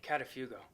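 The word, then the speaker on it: καταφεύγω: a great greek word catafugo think of how to pronounce as a pet sitter telling someone going on vacation i'll watch the cat if you go paul and barnabas didn't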